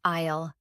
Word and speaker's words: aisle: Note that the letter S in this word is silent. We do not say isle, we say isle.